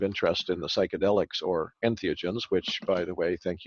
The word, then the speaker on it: entheogens: for getting correct because a lot of people don't get that word pronounced correctly they sort of struggle through it and end up with something like s neo genic or whatever but right entheogens and for anyone watching or